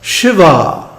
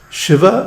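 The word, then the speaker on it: Śivā: And he also mentions Shiva, with a long A at the end. This is another reason why you should study Sanskrit. The difference between Shiva and Shiva is the difference between the male Lord Shiva and his female counterpart, Devi or Shakti.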